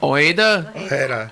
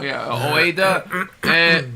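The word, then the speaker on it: Ojeda: Oeda. J's are H's. Yeah. Oeda.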